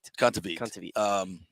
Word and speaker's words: Kontaveit: Kontaveit.